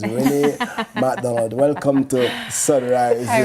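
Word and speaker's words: Renate: It's R-E-N-A-T-E, but the T is silent. It's Renee McDonald.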